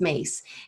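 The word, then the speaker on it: Myss: you familiar with caroline mace in her work at all i don't think i am okay caroline mace her last name is spelled m-y-s-s um but it's pronounced mace and i i follow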